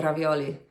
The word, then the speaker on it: ravioli: to make some pumpkin ravioli I think and some or let me say it properly we're going to make some pumpkin ravioli I am Italian that's how you're supposed to pronounce that word um but yeah we're